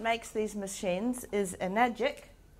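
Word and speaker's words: Enagic: person once said the right answer is definitely magic and some people call this magic water and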